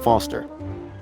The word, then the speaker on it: Foster: pickle so does I'm Foster I'll remember that easy because your name rhymes with fossil and you're old thanks kid what's wrong with the roundabout it sucks stupid mr.